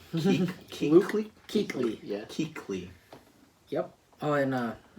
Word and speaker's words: Kuechly: Luke Kuechly. Luke Kuechly.